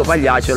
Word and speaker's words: Pagliaccia: Agliana, e lo so, io dico quando Pagliaccia, dico Pagliaccia, lo pronuncio così e...